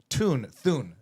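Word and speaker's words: Thune: It's sort of also Thun, I'm told it's how it's pronounced, has a large role in deciding, what reaches the agenda when.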